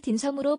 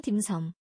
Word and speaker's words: 딤섬: 지옥이 발생한다 정지선 셰프가 연이어 딤섬을 디섬 발음하자면 딘이 아니고 딘딘딘 딤섬 왜 자기 메뉴 발음도